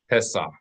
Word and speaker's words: Pesach: That means if we ignore this dot here, the average native English speaker would read this as Pesach, Pesach. They would not be pronouncing the H as a consonant. They'd just be understanding it as an indication that the accent's on the last part of the word, Pesach.